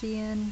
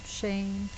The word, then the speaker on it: Shein: call it from Shen I've heard it pronounced Shen Shane Sheen I say Sheen I don't know anyway it's just a